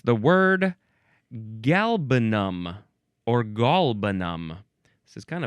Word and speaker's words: galbanum: akin to the Hebrew word halbenach, which means galbanum. How do we pronounce this word?